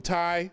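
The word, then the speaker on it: Tiye: in berlin this is queen tai or ta some people pronounce it queen t t-i-y-e she is the mother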